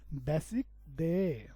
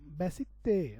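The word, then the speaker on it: 배식대: রাখে ওইটার নাম হচ্ছে বেসিক দে বেসিক তে উচ্চারণ হবে বেসিক তে আশা করি বুঝতে পেরেছেন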